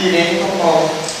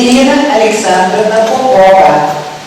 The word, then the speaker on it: Irina Alexandra Popova: Irene Popov. Pois é, gente. Não é meu nome, não, é mentira. Meu nome é Irina Alexandra Popova. Cheguei no Brasil, Irina foi traduzida para Irene.